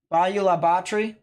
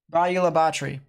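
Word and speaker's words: Bayou La Batre: Bayou La Batterie. That's what it's pronounced? Got it. Bayou La Batterie.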